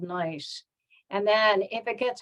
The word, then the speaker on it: gneiss: So, a shale turns into a slate, which turns into a schist, a gneiss, spelled with a G, it's a silent G, and then finally a migmatite.